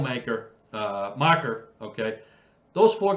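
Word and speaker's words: Makar: cole uh mocker maker i keep saying his name wrong kale i'm sorry it's kale maker uh marker okay those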